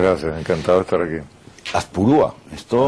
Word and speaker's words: Azpurúa: Azpurúa, esto Azpurúa. me suena... Azpurúa. Ah, pues me han puesto el acento en el otro sitio.